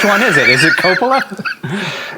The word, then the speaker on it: Coppola: it is it coppola it's it's italian you know european vowels tend to open up things a little bit they pronounce the o's more like ohs so you know coppola makes a little more sense okay probably closer now